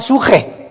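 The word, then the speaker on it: psuche: La palabra espíritu, apúntala, viene del hebreo suche, como suena, pero con P al principio de papá. Suche con S y CH. Suche se pronuncia suje.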